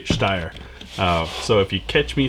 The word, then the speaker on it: Steyr: first time handling a steyr and that's the way it's pronounced in german i lived over there for so long i'm sorry folks i'm going to have to say steyer so if you catch